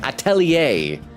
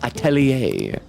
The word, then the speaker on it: atelier: Atelier. I've seen it written so many times. Atelier.